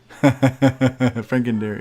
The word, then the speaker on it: Frankendiary: Frankendiary, yeah. yeah, Franken Diary is how you pronounce it.